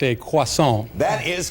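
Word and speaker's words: croissant: States name it that is a if my pronunciation is correct a quason that is correct good enough close enough aant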